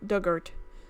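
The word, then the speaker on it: Dugort: Pronounced Doug like the past tense of dig, or Duggart.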